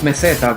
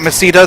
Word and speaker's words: Meseta: Pretty sure it's pronounced meseta, but Don't care. I've been pronouncing it Masita since 1996.